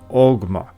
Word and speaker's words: Ogma: Now, in myth it was invented by the god Oma, but in Old Gaelic pronounced Ogma, who was its father, while the chisel used for the inscription was its mother.